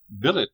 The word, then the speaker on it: billet: mind seen melom mankind Billet does not rhyme with ballet bouquet wallet Mallet Chalet